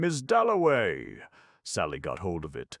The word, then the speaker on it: Dalloway: Somebody had brought him over, and Clarissa got his name wrong. She introduced him to everybody as Wickcham. At last he said, "My name is Doway."